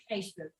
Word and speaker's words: Gijsbert: How do you say Gisbert or Gisbert? Gijsbert. Well, I'm not up to that.